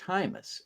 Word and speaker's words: Heimes: our guest today and it's pronounced hus as anyone who speaks English would know uh but apparently me